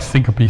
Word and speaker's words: syncope: know that word right we like syncope syncope is a good word I like it as multiple syllables in it okay so what do